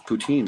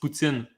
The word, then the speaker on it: poutine: it's poutine that's yeah is not poutine in french it's putzin here's how you pronounce it you you say poo okay and then instead instead of saying teen it's not teen like teenager that's not how you say